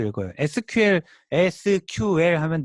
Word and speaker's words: SQL: 를 sql 이라고 쓰고 읽을 때 c 쿼리 라고 읽어요 c 퀄 이라고 요거 sql sql 하면 네 글자